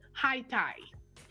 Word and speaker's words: Haiti: it and of course in the u.s they pronounce it high tide they don't say but